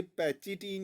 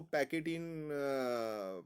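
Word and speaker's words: pachytene: और ये पैचिटीन, या कई लोग इसको पैकेटीन प्रोनाउंस करते हैं, इस पैचिटीन स्टेज के अंदर crossing over occurs between the adjacent non sister chromatids.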